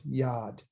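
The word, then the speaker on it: יד: In my mind, that's a Y, that's a ah, right? That's an ah sound. And then we got the D. So it's yad.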